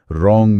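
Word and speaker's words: wrong: और कुछ क्लासिक उदाहरण तो हैं ही, जैसे नी में K, रोंग में W।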